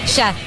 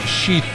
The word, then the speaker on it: Sheth: How do you say your last name? Chef. Chef. Yeah. Not Sheath. No. It's close. I'm just telling you, Chef.